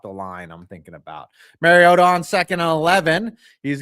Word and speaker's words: Marcus Mariota: Marcus Mariota who that that is the correct pronunciation. Mariota. Okay. Not Mariota or Mariota as Roger Goodell said when he was drafted. He said Mari, it's Mario with an A.